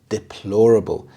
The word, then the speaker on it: deplorable: this subject deplorable deplorable the stress is on the second syllable deplorable this means shockingly bad